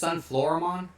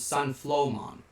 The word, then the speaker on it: Sunflowmon: Japan, when you saw Sunflowmon, did you always pronounce it as Sunflowermon? Because that's how I always pronounced it as a kid. I did not know it was Sunflowmon.